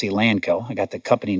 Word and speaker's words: Elanco: tell you something first it's not elonco it's a lanco I got the company